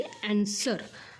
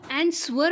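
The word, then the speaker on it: answer: लक्षात आलं का त्यासोबतच जो काही आन्सर आपण म्हणतो तो अन्सवर म्हणायचं नाही तर तो काय असतो रे आन्सर काय असतो आन्सर आणि ह्यामध्ये जो काही सायलेंट लेटर आहे तो आहे डब्ल लक्षात आलं का ्याला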